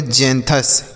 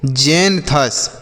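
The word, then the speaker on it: xanthous: जेंथस। पढ़ने पर ध्यान दीजिएगा बच्चों। नहीं तो आप गलत तरीके से पढ़ेंगे क्योंकि यहां पर जो x है इसका उच्चारण ज के रूप में किया जा रहा है।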